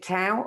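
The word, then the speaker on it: Tao: lot as well absolute do you pronounce it tau or down um i pronounce it dao dao absolute dao talks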